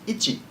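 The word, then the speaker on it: 一: The first number we have is the number 1, which is pronounced ichi.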